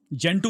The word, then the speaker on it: Gentoo: जेंटू means Hindu, yes, GENTOO, ये spelling है उसका।